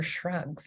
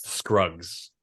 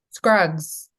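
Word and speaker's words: Scruggs: Uh let's talk about the ballot of Buster Shrugs. Am I saying it correctly? Shrugs. Scrugs. Scrugs.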